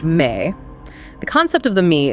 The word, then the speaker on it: me: They had something called the MI spelled me pronounced May.